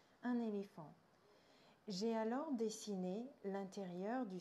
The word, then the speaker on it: éléphant: Un éléphant. It's the same word than in English, you just pronounce it the French way. Un éléphant.